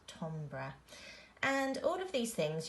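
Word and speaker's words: timbre: structure and Tom bruh and that's not Tim bruh that's how you would phonetically sound out but it's actually said Tom bruh and all of these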